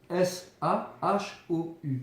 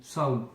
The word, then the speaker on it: Sahu: Ça s'écrit Sahu, S-A-H-U ou S-A-H-O-U. Sahou, c'est la barque céleste chez les Égyptiens anciens.